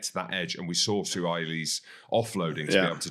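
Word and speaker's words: Suaalii: Joseph Suai-Li'i, I said it right again, and Ikitau, and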